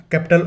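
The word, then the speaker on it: kappa: The word is iota, capital iota इस तरह से, और स्मॉल आयोटा इस तरह से। Next is कपा। Remember the pronunciation, कपा, इट्स नॉट कपा, the word is कपा।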